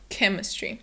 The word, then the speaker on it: chemistry: So it's not a ch sound, but instead a k sound. So it's chemistry.